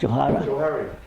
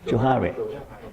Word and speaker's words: Johari: How do you pronounce Johara? Johari.